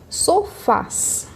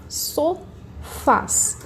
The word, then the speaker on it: sofás: Sofás. Sofás. Qual que vai ser a minha sílaba tônica? Vai ser a última, Fá. Terminei em AS, então acentuada.